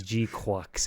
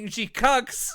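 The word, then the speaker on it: GQuuuuuuX: Yes, it's G-Quux. It's a Q, not a C. That's how you say it. I kept saying G-Cucks.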